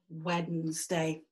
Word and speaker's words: Wednesday: Over time, it became Wednesday, Wed-ness day. To remember how to spell it, the best thing to do is to say it in three syllables, Wed-ness and day. But it's Odin's day today, Wednesday.